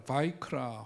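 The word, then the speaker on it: ויקרא: 우리가 부르지만 그 이전에 마이크라 바이크라 혹은 이제 와이크라고 발음을 하는데 히브리어로 이렇게 바이크라라고 이제 이름을 붙였습니다 그 뜻이 뭐냐면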